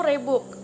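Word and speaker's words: Reebok: Yang keempat, yaitu Rebook. Rebook sebenarnya adalah pelafalan yang lebih mudah dari RH e-book, sebuah bahasa Afrika Belanda yang berarti kijang.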